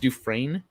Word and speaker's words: Dufresne: It's pronounced Dufresne. Learn to spell, French people.